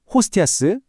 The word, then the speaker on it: hostias: 화면에 나와 있는 발음을 보시면서 제 소리를 한번 따라와 보세요. 호스티아스 에트프레체스 TV 도미네 라우디스 오페리무스.